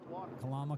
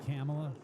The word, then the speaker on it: Kamala: Kalama cunt Harris. Kalamala. Kamala.